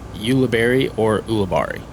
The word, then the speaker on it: Ulibarri: there's a lot of confusion on how to pronounce it but it's Ulibarri or uh labarie it's Spanish so you know